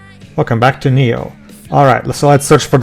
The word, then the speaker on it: Neo: Avoiding true square tradition, you know, they take a Latin word and pronounce it wrongly because it should be Neo instead.